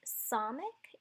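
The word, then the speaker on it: samekh: Next, there's Samic. It's an S sounding sound, hence the S is the transliterated figure, and it's pronounced like the S in C.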